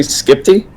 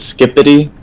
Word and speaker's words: Skiptty: It's actually Skiptty. I've heard some people pronounce it as Skippity, but there's no I in between, so yeah, it's just Skiptty.